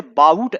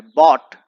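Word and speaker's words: bought: दोस्तों इसे बाउट ऐसे नहीं पढ़ना है, बॉट, ब्रॉट, इस तरीके से प्रोनाउंसिएशन होता है।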